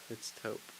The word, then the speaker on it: taupe: Is it pronounced taupe or is it like top? It's taupe.